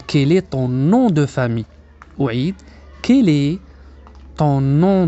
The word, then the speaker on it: famille: سنقول quel est ton nom de famille. لاحظوا أن ال أو اثنان ال في كلمة famille لا ننطقها.